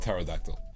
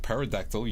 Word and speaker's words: pterodactyl: Woods okay so pterodactyl yeah let's talk about pterodactyl let's talk about the word pterodactyl yeah okay